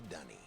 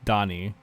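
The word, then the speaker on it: D'ni: warning seriously welcome to Danny you and I will live here forever I'm saying it wrong it's Dani and they were oh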